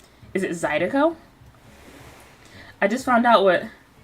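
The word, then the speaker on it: zydeco: sorry I'm looking at zedo songs okay now pronunciation guys it's our favorite part zido zido zido zido zido zido okay okay Wilbur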